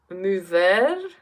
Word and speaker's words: émouvoir: Émouvoir? I'm pronouncing it like it's French.